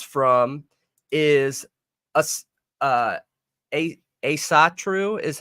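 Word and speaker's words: Ásatrú: what odinism stems from is us uh a a satru is how it's pronounced right Asatru it's ASA true ASA true ASA true okay so odinism stems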